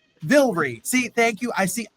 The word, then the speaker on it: Vilray: It's It's Villrie. Vilry.